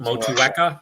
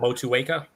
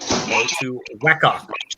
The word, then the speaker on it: Motueka: and say how they're all supposed to be pronounced? And he goes over them all. Motueka. Motueka. Motueka, not Motueka. Motueka. Motueka.